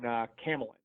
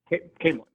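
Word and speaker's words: Caemlyn: is when they're in Camelin. Camelin, yeah. Camelin. I always pronounce it like Camelot.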